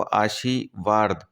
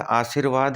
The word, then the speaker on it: आशीर्वाद: चंद्र बिंदु का और बार-बार मैं एक शब्द बोल रहा हूं आपको आशीवाद एक्चुअल में आशीर्वाद हम उच्चारण में लेकर आते हैं आशीर्वाद पर बोलते क्या है आशीवाद बोल लिखते हैं ठीक है बहुवृही